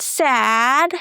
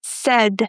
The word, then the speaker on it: said: So guys, it's not said. The y i is not there. It's not pronounced and it's not sad like I'm sad, it's said with the eh sound again as in bed.